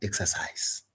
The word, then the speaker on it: exercise: KCSE, some verbs have their stress falling on the first syllable, e.g. manage, register, exercise, promise, answer. And indeed, KCSE 2024, look at the words they brought. They said, "Provide the underline the stress syllable in the following words. Number one, exercise." So, because you know exercise is a verb, you would have rushed to the second syllable. But what KCSE was doing, they were testing the exception to that rule.